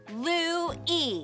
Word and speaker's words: Louis: It's pronounced Louis.